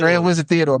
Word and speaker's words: Grand Wizard Theodore: it right grand grand wizard Grand wizard Theodor Grand wizard Theodore my bad what one of the they will